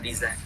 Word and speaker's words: design: C'est un mot d'origine anglaise et on prononce comme en anglais, design.